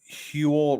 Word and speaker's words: Huel: says they are Brands one is huel rhymes with fuel oh hu got it